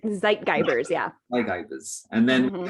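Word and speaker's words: Zeitgeber: And these are kind of called, if I pronounce it correctly, Zeitgeists in the research, right? Zeitgeibers, yeah.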